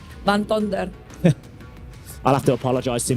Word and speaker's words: Van Tonder: Van Tonder.